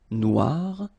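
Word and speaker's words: noire: you will have to add this at the end of Noir for the feminine form but then you don't pronounce it okay so phonetically it is exactly the same Noir Noir Okay g don't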